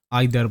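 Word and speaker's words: either: আর এরপরে এটা দেখো এটাকে নিদার বলতে পারো বা নাইদার বলতে পারো এটাকে ইদার বলতে পারো বা আইদার বলতে পারো একচুয়ালি এটা ব্রিটিশ এবং আমেরিকান ইংলিশের পার্থক্য ওকে সো এটাই ছিল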